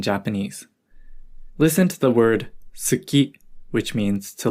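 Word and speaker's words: 好き: Listen to the word suki, which means to like. Notice how we don't really pronounce the ooh sound when we say suki.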